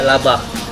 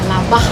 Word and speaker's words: labar: Tapi tulisannya pakai R Bu. Kenapa dibaca laba? Karena ejaan di sini bahasa daerahnya labar, R-nya tuh nggak di-R-kan, tapi K sama H, labah. Oh laba.